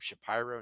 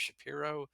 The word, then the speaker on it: Shapiro: and say you know you pronounce my name shapy instead of Shapiro can I claim discrimination